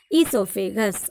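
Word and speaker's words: oesophagus: But O means it is silent. You have to read as esophagus.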